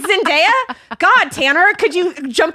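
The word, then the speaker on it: Zendaya: It's Zenaia.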